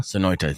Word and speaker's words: Sonoita: One, don't speed, especially around Ajo and going through Soñita. How do you say it? Sonoita. Sonoita.